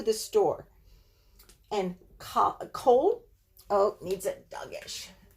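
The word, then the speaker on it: כָּל: store and caught a cold Oh needs a Douga SH it has the Komets under here so you're thinking it should be pronounced come but I it's always going to be pronounced Col I can give you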